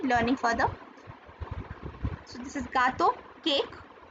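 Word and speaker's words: gâteau: G for gato. This is not jato.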